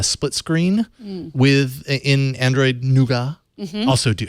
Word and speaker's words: Nougat: screen with in Android noua also do how do you say it nougat or noua I say nougat I still say nougat okay all right we'll